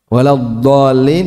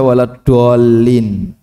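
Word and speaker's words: ولا الضالين: Waladhdallin dibaca waladdallin. Ini apakah mengubah makna kira-kira? Jadi dal. Ya, dot jadi dal, dolin.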